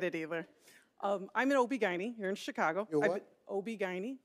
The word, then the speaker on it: OB-GYN: me said it says right here you're an obergen my co-host shirley strawberry was on the floor